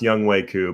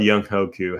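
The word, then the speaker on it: Younghoe Koo: week team labong i know it's pronounced young wei ku but when it's spelled young hoku how can we not say it like that um but in respect to young way there you go young waiku um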